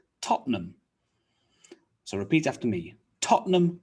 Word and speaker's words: Tottenham: that's not really correct top ten num is three syllables we cut it down to just two tottenham tottenham so repeat after me